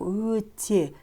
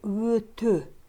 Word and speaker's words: өте: Слово «өте» не произносится как «өте», а произносится как «өтө». «Өтө». Если в первом слоге слова присутствует гласное «ө», то последующие буквы «е» в слове произносятся как «ө». «Өтө». Не «өте», а «өтө».